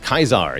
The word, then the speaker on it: Caesar: in actual history so Caesar is pronounced kaizar yes away hail to